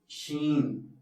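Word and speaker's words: شين: ഷംസുദ്ദീൻ എന്നൊക്കെ പറയാറുണ്ട് കുറച്ചുകൂടി ഷീനിനോട് അടുത്തു നിൽക്കുന്നത് ശ എന്ന ശബ്ദമാണ് മലയാളത്തിലെ ഷ എന്ന ശബ്ദമാണ് കുറച്ചുകൂടി അടുത്ത അതുകൊണ്ട് ഷാ ആയിരിക്കും നല്ലത് ഷീൻ എന്ന ശബ്ദമാണ് നല്ലത്. സീൻ ഷീൻ സീൻ അവസാനം നൂനിലാണ് അവസാനിക്കുന്നത്.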